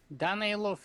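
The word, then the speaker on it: Danaylov: Danilov is the proper one.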